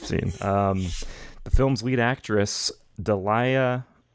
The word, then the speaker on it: Daliah: The film's lead actress, Dalia, I'm sure it's pronounced Dahlia, Daliah, Dahlia Lavi, said that this was her favorite film and performance of hers.